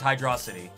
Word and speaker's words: Hydrocity: blame it on baby is it pronounced hydrocity or hydro city it's hydrosity hydrocity i'm gonna always go